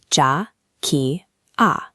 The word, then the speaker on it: Jakiah: Listen to how the name Jakiah lands. jah-KIE-uh. 3 distinct syllables that settle into a rhythm like a soft drum beat.